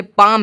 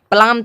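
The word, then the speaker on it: palm: भी उच्चारण नहीं होगा जैसे पाम है पाम मतलब होता है हथेली पलाम थोड़ी ना आया पालम थोड़ी ना आया पाम आया पाम मतलब हथेली यानी कि उससे एल का कोई भी उच्चारण नहीं हुआ सेम टू सेम आप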